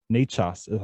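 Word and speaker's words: Nečas: and i already forgot n-e-c-a-s nachos i think they how they pronounce it one of my favorite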